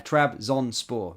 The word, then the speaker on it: Trabzonspor: for uh to join trb zonpor sorry my pronunciation is really bad as Derek aday says there trb zon sport there we go thank you um Lennon